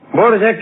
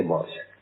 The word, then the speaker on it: Dvořák: Dvořák es Dvořák. Se escribe así y se dice así si usted quiere. Si usted no quiere, dice Dvořák. Nació el 8 de septiembre